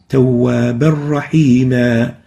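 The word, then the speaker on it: تَوَّابًا رَّحِيمًا: When we merge them together, we don't pronounce the tanween, so it will, and that's why it's in gray, and it will sound like this. Tawwaban Rahima.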